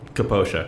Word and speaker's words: Capoccia: Capoccia. Capoccia, correct.